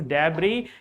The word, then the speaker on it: debris: debris The word is debris. Here, S is silent, my dear.